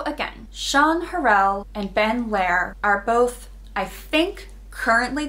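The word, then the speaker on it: Lehr: post from fapoli then lair i think is how you would pronounce it l-e-h-r is actually a planning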